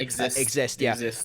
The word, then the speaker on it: Exist: Exist. I knew I knew it was spelled I was going to say Zeiss. I had to remember how to say it. So it's spelled Zeiss, but it's actually exist.